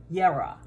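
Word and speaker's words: Jera: have for today is it's called yara it's spelled j-e-r-a and it looks like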